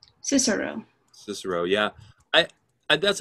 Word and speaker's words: Cicero: pronounce the name cicero cicero yeah i that's how i pronounce it too but i read i heard somewhere that the way it was actually pronounced was kikero but you know that's